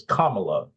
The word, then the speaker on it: Kamala: how to say it it's Kamala like the punctuation comma Comm then I guess